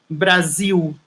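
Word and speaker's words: Brasil: brazil and brazilian portuguese is written with an s you know so is b r a s i l brazil and we say brazil brazil okay um brazil has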